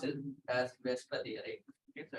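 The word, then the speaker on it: VSEPR: But pronounce it as Vesper theory. Okay, so it's a little bit different ordering of the letters. So pronounced as Vesper theory, valence shell electron pair repulsion theory.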